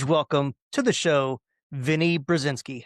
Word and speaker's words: Brezinsky: A huge welcome to the show, Vinnie Brzinski.